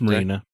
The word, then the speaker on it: Marina: Is it pronounced Marina? It's Marina. It is Marina? Okay. Yeah, she said it's Marina. It's like where rich people park their boats.